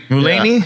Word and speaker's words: Mulaney: Is that how you pronounce his name? Mulaney?